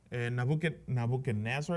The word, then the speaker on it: Nebuchadnezzar: Nebuchadnezzar is how you say it in English, right?